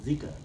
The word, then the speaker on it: Zika: sickle fire Malory Malory it's pronounced Zika will excuse me I